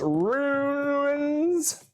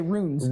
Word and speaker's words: ruins: that is the lost ruins of ornack hey you said it right usually you say runes runes i'm like there are no rooms the lost ruins of